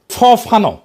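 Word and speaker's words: Fanon: ফরাসি আলজেরিয়ান চিন্তাবিদ ফানো ফানো number আসল উচ্চারণটা।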